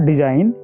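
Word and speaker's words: design: जब आप डिजाइन को बोलते हो तो उसमें क्या होता है? जी साइलेंट होता है। साइलेंट का मतलब होता है कि उसकी आवाज नहीं आती है। देखो आप एक बार बोलो डिजाइन। तो उसमें जी की आवाज साइलेंट है।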